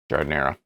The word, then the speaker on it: giardiniera: jardinera and i and i keep like wanting to pronounce it differently even though i know it's gardener all right let's go